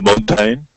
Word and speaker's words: mountain: at the beginning and the second syllable is unstressed so you can drop the second a bit so sometimes you just